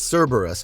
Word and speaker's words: Cerberus: a long brutal battle Cerberus pronounced as Cerberus it was named after